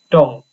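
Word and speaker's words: 동: Maka D, O dan eng di sini dibacanya adalah dong.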